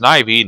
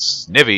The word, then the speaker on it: Snivy: for my playthrough of it's pronounced Snivy not sniffy you you degenerative fool